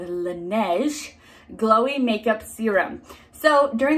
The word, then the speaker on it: Laneige: product it is the lineage last time i got something for this brand i very mis correctly pronounced this brand i know better now it is the laneige glowy makeup serum so